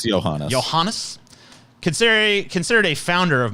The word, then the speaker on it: Johannes: I don't know how to pronounce his name. It's Johannes.